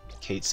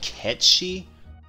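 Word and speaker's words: Cait Sith: about everyone calls the Cates it though um can't remember I heard his different apparently supposed to be pronounced like cat she names uh oh wow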